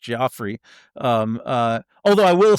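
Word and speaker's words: Giuffre: Um, there's the the the the testimony of the late um, uh, Virginia, I think it's pronounced Joffrey.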